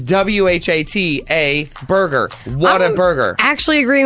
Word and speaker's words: Whataburger: see the word w-h-a-t how do you say it what we're not talking about that we're talking about the right the name of the spelling of the burger is w-h-a-t-a Burger what a burger actually